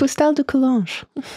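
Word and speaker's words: Fustel de Coulanges: And Emily, you will now pronounce the name of the author who wrote The Ancient City, because I can never pronounce it. Foustal de Coulanges.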